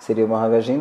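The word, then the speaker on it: Moravagine: Como exemplo, a gente vai falar de Moravagim, a pronúncia certa seria Moravagim, do Blaise Cendrars, que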